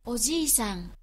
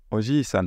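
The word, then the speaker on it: おじさん: Dans le premier, Oji-san. Oji-san. Vous voyez, il n'y a pas de deux, c'est Oji-san. Alors que dans le deuxième, la personne le prononce avec le de. Oji-san. Donc ça, c'est bon à savoir, il y a deux prononciations qui sont acceptées.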